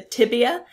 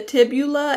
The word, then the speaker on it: tibia: So the tibia and the fibula, not the tibula and the fibia. Sometimes I hear it said that way, but let's make sure that we get that pronunciation correct.